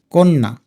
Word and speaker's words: কন্যা: কিন্তু উচ্চারণ করার সময় আলতো করে ককে একটু ওকার দিয়ে বলি কন্যা কন্যা বলেই আমাদের ক এর